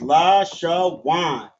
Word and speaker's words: Lashawan: And then w and n have a connector under both of them. connecting both of these letters from w and na to wan. So it's pronounced la shaan.